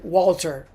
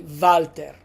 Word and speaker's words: Valter: So, you might hear um Italians say Walter. Walter. That's fine. But in Italian, we say Valter.